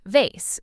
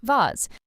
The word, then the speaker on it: vase: Or the word vase. Americans often say it like vase, while British speakers often say it like vase. Again, both correct, just regional differences.